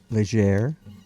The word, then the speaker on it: Leger: Leger. Yeah, so you got it. Well, yeah, I know. I was reminded. I was told. Yeah, to do yeah, it, so. yeah. Yeah, you just gotta pronounce that R.